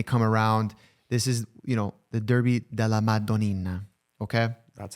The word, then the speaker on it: Derby della Madonnina: This is, the Derby della Madonnina. Okay? That's how you pronounce it.